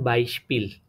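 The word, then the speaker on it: Beispiel: তো এতটুকু মনে রাখবেন যে এসপি যখন ওয়ার্ডের শুরুতে থাকবে তখন এসপিটা স এর মতন উচ্চারণ হবে। তো বলতে পারেন বাইশপিল, ঠিক আছে, এটাতে শব্দের মাঝখানে না, এটা শব্দের মাঝখানে না, বাই একটা আলাদা, স্পিল একটা আলাদা, দোনোটা হয়ে এটা একটা হয়েছে, ঠিক আছে।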